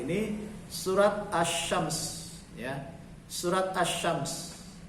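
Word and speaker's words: الشمس: surat assyams ya surat assyams Jadi bukan al-shams bacanya Azzam Hai surat assyams ayat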